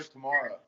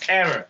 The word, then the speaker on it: Tamara: So hard not to call her tomorrow. Every time I see her, be like, "What's up, tomorrow?" And it's it's Tamara.